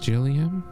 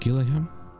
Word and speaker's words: Gillian: to see you again it's pronounced Gillian not Gillingham pressure normal mrs.